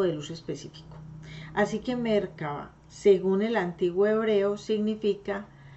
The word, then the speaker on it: Merkabah: Esa Merkabah, que se escribe con K, termina con una H al final, se dice Merkabah, la cual crea, controla y tiene la habilidad para hablar a través de sumideros electromagnéticos.